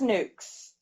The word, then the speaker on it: NUK: brand nuckies nucks nukes they're pronounced nukes all right whatever yeah